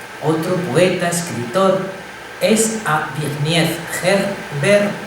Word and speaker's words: Zbigniew: Y otro, al que admiraba, otro poeta, escritor, es a Zbigniew, Herbert Zbigniew. No es que esté haciendo mágaras, es que se pronuncia así.